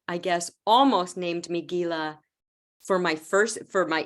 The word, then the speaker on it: Gila: called The Gila monster even though it's pronounced Gila monster here in the United States everybody would have said oh Gila monster so I would